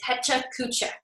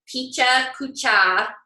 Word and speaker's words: Pecha Kucha: It's not Picha Kucha, although I won't make fun of you if you say it wrong, but it's Pecha Kucha, as far as I understand.